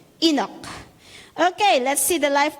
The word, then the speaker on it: Enoch: Number two, e, how do you pronounce this? Enok. Enok. Enok.